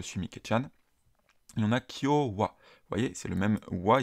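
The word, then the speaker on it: 今日は: mikchan et on a Kyowa voyez c'est le même wa il se prononce ici de la même manière que le WA qu'on a dans konichiwa ici en l'occurrence c'est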